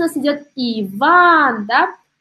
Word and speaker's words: Иван: Дальше у нас идет Иван, да? У нас здесь получается следующая картина. Иван, ударение на второй слог, да?